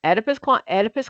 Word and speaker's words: Oedipus: Okay, so Oedipus complex, E, the O is silent.